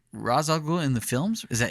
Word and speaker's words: Ra's al Ghul: Okay, so it's pronounced Ra's al Ghul in the films?